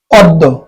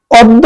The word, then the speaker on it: অদ্য: একটা থাকে ব্যঞ্জন বর্ণ থাকলে আদি অ এর উচ্চারণ উকার হবে মানে ও এর মতন হবে যেমন অদ্য অদ্য খেয়াল করেন জ ফালা এই জফলার কারণে এই